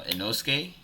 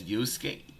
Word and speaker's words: Yusuke: We finn to get into uh Enoske. Enoske. No, bro. That's Yusuke. Yusuke. I haven't watched the anime, so I don't know how to say his name, but I definitely heard his name. Being said, it's Yusuke.